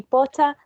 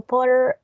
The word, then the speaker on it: Potter: the beginning but yeah the final sound of the last name is it can be pota or potter or pot potter put something like that you know how